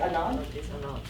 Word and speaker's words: Ananth: Okay, you have to tell me how to say your name right, so I don't, is it Ananth? Ananth, okay, with the TH at the end, okay.